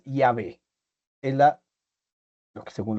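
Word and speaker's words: Yahvé: Ahora, según los estudiosos, la pronunciación más cercana es Yahé.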